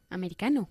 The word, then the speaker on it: American: Americano. Americano. Nosotros pues ponemos el énfasis en la segunda sílaba.